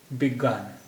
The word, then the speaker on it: विज्ञान: को लंबा होता है तो यह हो गया विज्ञान विज्ञान विभाग ने विज्ञान विज्ञान मनोविज्ञान जो बेक